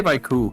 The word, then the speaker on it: Baiku: Is Baiko? Well, you can just say Baiku, because it's kind of Baiku.